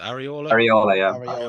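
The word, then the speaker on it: Iraola: How do you pronounce it? Areola, Yeah.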